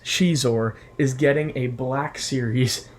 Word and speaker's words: Xizor: crap Prince xizor yes I'm not pronouncing it Prince zizor as I did when I was younger Prince Shor is getting a black